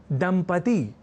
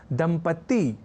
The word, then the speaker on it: दंपति: और अब इसी अतिरिक्त रूप से त इस अक्षर को जोड़ने की दुष्प्रवृत्ति को हम दंपति इस शुद्ध और मानक शब्द के कुछ अशुद्ध प्रयोगों को देखकर समझ सकते हैं।